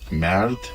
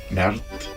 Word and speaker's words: merde: All the French words, it was always lovely to try to teach them to have the right pronunciation. Merde. Merde.